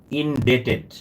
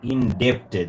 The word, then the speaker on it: indebted: look at the parenthesis and it will be indebted not indepted with him the pronunciation is indebted so we will run pronounced